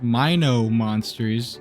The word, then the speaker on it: Mino Monsters: behind mono monsters shutdown and yes it is pronounced Mino monsters something I caught wind of after my first